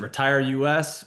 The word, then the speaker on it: RetireUS: We pronounce it Retire US. We pronounce it Retire Us. We feel like there's kind of a fun connotation both ways, so we use them uh, interchangeably.